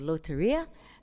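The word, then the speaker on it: Lotería: They had a game in Mexico called Loteria. Did I get the pronunciation right, guys? I'm looking at you. Okay, thank you. They had a game that they brought called Loteria.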